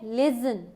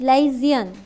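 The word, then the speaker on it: liaison: Right option क्या है इसका, ये है लिजन, ये है स्पेलिंग इसके। 25 का ए, LAIAISON, LAIAISON। रोहित धीमान आपका गलत है, लेजन नहीं है, इट्स लाइजियन।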